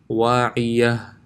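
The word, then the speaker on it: واعية: For example, if I did not intend of stopping, it will sound like wa'iyatun, khawiyatun. But if I intend on stopping, it would become a ha with a sakin, so it will be pronounced wa'iyah, khawiyah, wa'iyah, khawiyah.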